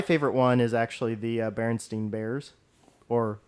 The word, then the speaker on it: Berenstain: That's not how you pronounce it, though. It is spelled stain. Yes. But it's pronounced differently. Yeah. So fucking Germans. But yeah, I mean the Mandela effect on that one is basically it's STEIN versus STAIN, and it's actually spelled STAIN on their name.